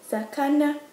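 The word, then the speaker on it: 魚: Fish is sakana.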